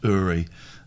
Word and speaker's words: Uri: So Uri Geller, it's pronounced Uri, and videos.